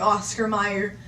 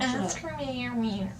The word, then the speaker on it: Oscar Mayer: You say Meyer because it's an E. Not Mayer, but it's an A. Oscar Mayer. Oscar Mayer.